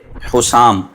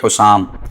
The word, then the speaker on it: حسام: تلفظ پروناؤنسیشن یہ ہے حسام، ہا کے اوپر پیش ہے، سین پر زبر تشدید نہیں ہے، حسام، سین کے بعد الف ہے اور پھر میم ساکن ہے، تو صحیح تلفظ ہے حسام۔ اعلیٰ حضرت امام اہل